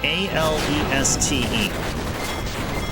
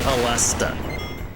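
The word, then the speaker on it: Aleste: It's spelled A-L-E-S-T-E. Now, I pronounce it Alesta.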